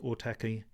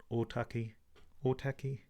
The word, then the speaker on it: Ōtaki: So the road that we're looking at goes from Ōtaki here, which is better pronounced Ōtaki, Ōtaki, yeah, something like that.